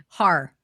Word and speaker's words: Haar: Har. Like Hardy Har.